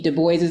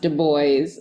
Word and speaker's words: Du Bois: as oi and voice the accent is on the second syllable so it is the